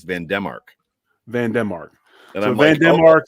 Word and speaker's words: Van Demark: I will correct you on Vandermark because every time Josh Allen has been asked about Vandermark, he says Van Demark.